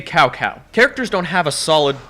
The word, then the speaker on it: Cao Cao: Lubu sounds like a nasally dad trying too hard to sound cool, and they don't pronounce Cao Cao's name correctly. Say Cao Cao.